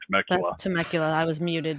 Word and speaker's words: Temecula: Temecula. I don't know how it's spelled, but then when you pronounce it, it's like, okay, that's got to be Temecula.